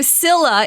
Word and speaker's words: Scylla: Is it Is it Scylla or No, it's Scylla.